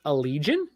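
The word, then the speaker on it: Elysian: E L Y S A I A N is pronounced a legion.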